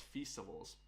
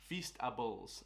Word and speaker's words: Feastables: So the first one we got to talk about is festivals. Feastables. I keep calling it festivals. Feastables. I don't know what the hell. It's like supposed to rhyme with beast or something like that.